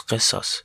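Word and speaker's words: قصاص: (I pronounce Qisas. it's ق letter, doesn't exist in English language. I use Q instead of that letter.)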